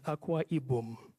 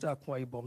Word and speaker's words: Akwa Ibom: Alford will tell you when you pronounce Aqua ibom it tells you the word is aqua ibom so if lots of Nigerians actually call it akwa ibom so I learned from him to say that state is aqua ibom State